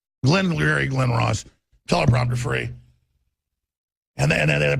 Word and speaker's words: Glengarry Glen Ross: girion government it's like in Glen Leary Glen Ross is that I pronounce it's a great movie I'm going from Glengarry Glen Ross teleprompter free and then